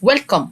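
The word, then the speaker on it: welcome: الاولاني وهي اللي بعنوان وكم الاي في الاخر ما انطقهاش ويلكم مرحبا واهلا تو ذا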